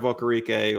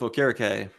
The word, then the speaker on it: Okereke: I was shocked they didn't go with Okereke, who I just remembered that is how we pronounce his name, Okereke. Because I think I might have said Okereke earlier.